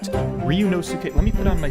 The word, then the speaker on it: Ryunosuke: Ryunosuke. Am I saying it correct? Is it Ryunosuke? That's the pronunciation that I'm being given in chat. Ryunosuke.